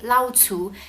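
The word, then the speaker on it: 老鼠: lau tu i guess technically you can also just say tu but that's not really clear usually it's not very clear when you only say two because it sounds too much like other words in haka but if you say lao tu it's very clear that you mean rat but if you say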